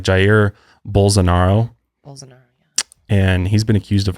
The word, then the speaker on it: Jair Bolsonaro: His name is really crazy to pronounce. So Jair. It's like Jair Bolsonaro.